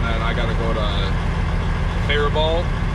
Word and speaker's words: Faribault: I gotta go to Faribault, apparently is how you say it, Faribault. Everybody from Faribault says Faribault, but somebody commented and said it's Faribault, so I don't know.